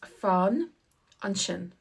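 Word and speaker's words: fan ansin: is the same but the s is pronounced like an sh and that's because it comes beside an I so when the S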